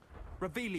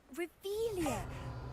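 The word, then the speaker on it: Revelio: Revelius. You're saying it wrong. Revelia. Much better.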